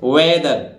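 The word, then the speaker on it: weather: यहां किसका हो दे रहा है दा का उच्चारण, तो वेदर ठीक है, वेदर ये वेदर है भाई, वेदर, वेदर माने मौसम।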